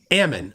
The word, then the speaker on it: Ammon: Is it Aman, or how do I say it right? Ammon.